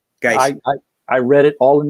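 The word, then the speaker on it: Guice: And I think his last name's pronounced Geis. I've heard people say Butch Geis. That's correct. Geis.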